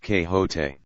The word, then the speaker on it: Quixote: misfortune to know that the gentleman's name is pronounced que hote when ignorance from out